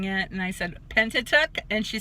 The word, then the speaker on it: Pentateuch: page and she tries to say the word tentative and I said she was mispronouncing it nice and Pentateuch and she says yeah what's that and I